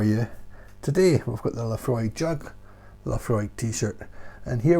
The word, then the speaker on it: Laphroaig: told me it's pronounced la free i said well look at the bottle it tells you l-a-f-r-o-y-g laphroaig la frog frog so